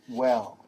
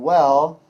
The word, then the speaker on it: well: And the last one, number 8, is well. 4 letters in well, but only 3 sounds.